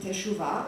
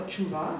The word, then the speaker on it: teshuvah: The Greek word translates the Jewish duty of, I don't know how to pronounce it, teshuvah or tshuvah, I think both is correct, the repentful reversal towards God and his Torah.